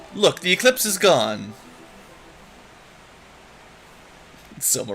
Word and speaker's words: Soma: Soma rhymes with coma.